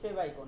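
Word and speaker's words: favicon: আপনারা অনেকে উচ্চারণ করলেন গত ক্লাসে ফেবিকন। ফেবিকন উচ্চারণ করেছিলেন না? ফেবিকন উচ্চারণ করলেও সমস্যা নাই। ক্লিয়ার? ফেবিকন দিয়ে মনে রাখেন অথবা ফেভ আইকন দিয়ে মনে রাখেন কোন প্রবলেম নাই।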